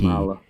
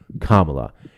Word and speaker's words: Kamala: Kamala. That's all you have to do, Kamala.